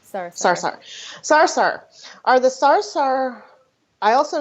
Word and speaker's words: Sarsahr: Am I saying it right? I always say Sarsahr. Yeah. It's Sarsahr. Sarsahr.